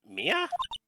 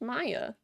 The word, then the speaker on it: Maya: Mia? It's Maya.